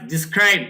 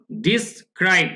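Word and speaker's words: describe: camp এটা ইউএন হ্যাজ ডিসক্রাইব উচ্চারণে খেয়াল করুন ডিসক্রাইব এটা ডেসক্রাইব এরকম নাকি ডিসক্রাইব জাতিসংঘ বর্ণনা করেছে রোহিঙ্গা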